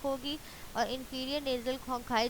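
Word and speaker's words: conchae: Vomer और inferior nasal कॉन्काई। Inferior nasal कॉन्काई। अभी जो लास्ट में मैंने बोला कॉन्काई, तो बच्चे इसकी प्रोनाउंसिएशन पे आपने खास फोकस करना है। कॉन्चियल या कॉन्चाई इस तरह से नहीं बोलना, अदरवाइज इट विल गिव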